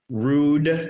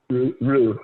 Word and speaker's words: Rue: Rude St. Mark. Rue.